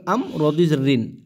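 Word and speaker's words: أمر: মিন কুল্লি হামজা জবর আম রদিন আমরিন আমরিন এই জায়গায় যেহেতু আয়াত শেষ আমরা থেমে যাব হবে কারণে মিন কুল্লি আমর আমর এরকম কিন্তু হ্যাঁ রব্বিহিম মিন কুল্লি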